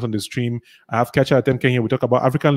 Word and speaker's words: Nkiacha Atemnkeng: Well, that Nkiacha you said is like an anglicized version. My name is Nkiacha Atemnkeng. That's like Bangwa pronunciation.